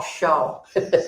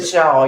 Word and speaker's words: Pshaw: Oh, Shaw. There was a P in front of it. Pshaw, Yeah, oh, Shaw.